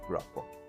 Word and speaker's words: Grapa: You told me to pronounce the name that way, Grapa.